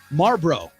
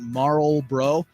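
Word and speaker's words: Marlboro: I saying it right Marl bro once again it's the r and it's an L Sher says she has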